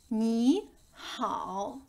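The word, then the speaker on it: 你好: Ni hao. Ni hao. Attenzione, viene pronunciata la lettera H. Hao, il terzo tono.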